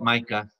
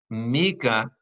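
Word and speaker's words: Micah: number nine 19 Myka I saw you call it mica I'm giving you the Hebrew correct pronunciation mica chapter 7 verse 19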